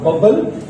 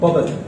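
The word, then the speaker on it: bubble: This is नॉट बबल, this is बबल। ठीक है, ये ध्यान रखेंगे, this is wrong, this is right, 2 bar sound नहीं आएगा।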